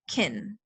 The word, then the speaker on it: can: When native English speakers aren't pronouncing can clearly, it sounds like kin. Like the example here. To pronounce it very clearly is I can do it, but that's not very natural.